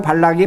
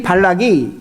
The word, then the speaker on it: 발락: 발람하고 발락이 발음이 비슷하기 때문에 잘 들으셔야 돼요.